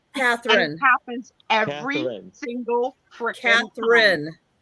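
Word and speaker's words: Katharine: pronounce her first name Catherine happens every single freaking Catherine so there's no l there's no l in her name yeah okay just like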